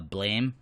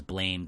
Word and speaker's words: Blame: ago on this show, Blame, or Blam, I think it's pronounced. I thought it was Blame just because of the way it's spelled.